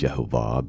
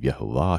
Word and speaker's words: YHVH: And yeah, we may disagree on how it's pronounced and things like that. No one knows for sure. I believe it's Yehovah based on manuscript stuff. But there's other people that have other opinions.